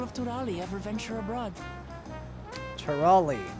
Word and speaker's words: Turali: Turali, that's how you say it.